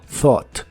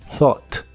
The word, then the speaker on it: thought: pensado en inglés es thought la th del principio es la th suave de inglés que suena solo como aire y las letras que están casi al final u g h realmente no se pronuncian solo thought thought y usaremos el verbo